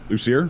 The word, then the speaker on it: Lucier: the lucer group yes how do you say it lucer lucer yes you say Luci here all right juli Manan